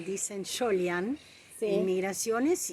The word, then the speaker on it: Soljan: ¿cómo es la pronunciación? Solian. Ahí estamos. Y bueno, el tema es que los de migración escribieron la I cuando en realidad debían haber escrito la J, ¿no?